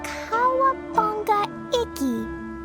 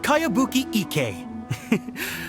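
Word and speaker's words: Kayabuki Ikka: By Kawabunga Iki. Yoimiya, this is a really strange name. Who's this Kawabunga? It's pronounced Kayabuki Ike.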